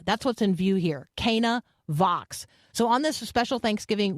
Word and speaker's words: Canavox: wedding at Kaa that's what's in view here Kaa Vox so on this special Thanksgiving week edition of